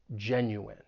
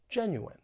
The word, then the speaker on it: genuine: when pronouncing this word it has three syllables the stress is on that first syllable and just keep in mind that the in at the end of the word is pronounced in genuine genuine so let's get a